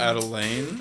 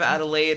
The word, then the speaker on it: Adelaide: say adelaine instead of adelaide and i loved it and i never wanted to correct him on it because i'm just like oh baby that's so wrong adelaine adelaine instead of adelaide and i'm like yup